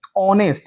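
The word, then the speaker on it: honest: ऑनेस्ट यानी ओ क्या है? एक वोवेल है। तो यहां पर जो एच है ना वो आपका साइलेंट है। एच क्या है? यहां पे साइलेंट है।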